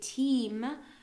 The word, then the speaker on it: team: such as o team so we say team is pronounced really as like an e e team spread boat